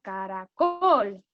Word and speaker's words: caracol: Una palabra que tenga 3 sílabas además sea estrújula, porque caracol es una palabra que tiene 3 sílabas, pero la sílaba tónica está al final, caracol.